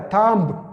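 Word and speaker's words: tomb: مخه بیا ام دی، دغه بی نه تلفظ کیږي، دا به دی نه وایه. ګوره څنګه ویل کیږي تام به نه وایه، تامب دا رقم به نه وایه، بی به نه ورسره وایه، تام ویل کیږي، دا بټې ګوتې ته تام.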